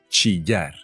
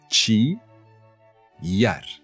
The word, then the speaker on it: chillar: Chillar. Chi yar.